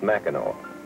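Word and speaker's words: Mackinac: in different parts of the country ever visit Mao Island up here at the end of Michigan no it's not too far from here you take a boat over it's the place that's spelled macac and pronounced Mao why is that I wondered about that next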